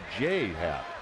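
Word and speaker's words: J. A. Happ: I believe I said J.A. It's pronounced J. Happ. Is that correct? Yeah, and it's a weird thing too, because the first name, the initials don't stand for anything. It's not James Andrew Happ. His first name is literally J.A. and he pronounces it J.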